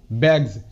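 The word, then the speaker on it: bags: Example যেমন, জি এর পর এসের উচ্চারণ বর্গীয় জয়ের মতো হয়। এর ওয়ার্ড যেমন ব্যাগস, বি এ জি এস, ব্যাগস, ব্যাগস। দেখো এখানে ব্যাগস এটা কিন্তু না, মানে এসের উচ্চারণ সয়ের মতো হবে না, জয়ের মধ্যে হবে, ব্যাগস।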